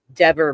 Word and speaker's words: Dever: And Rebecca made a joke and said, if you've ever pronounced Kelly Dever's name wrong, Dever, then you owe us $5.